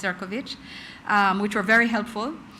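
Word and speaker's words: Šefčovič: Yes, spelled Seekovich pronounced Ciroich.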